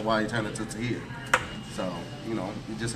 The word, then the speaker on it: Tahir: It's actually pronounced Tahir. It's Arabic.